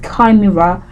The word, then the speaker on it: chimera: terminate for crying out loud okay so it's pronounced kimira and kir c h i m e r